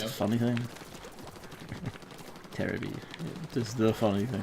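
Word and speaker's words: テレビ: And yet, television is still pronounced Terabi over there.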